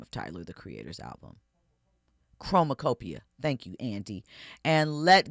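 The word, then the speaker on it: Chromakopia: I I don't know how to pronounce the name of Tyler the Creators album. Chromacopia.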